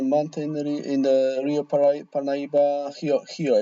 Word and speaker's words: Rio: And And in the mountain, in the Rio Parnaíba, Hio actually, this is how they pronounce it.